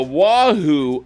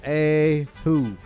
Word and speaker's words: Oahu: yes sir will a wahoo oh oh is that am i saying it right oahu it's pronounced a who shh ahu gardner squad presents the